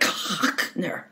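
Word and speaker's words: Hotchner: And he would say it like Hockner, like he was hawking.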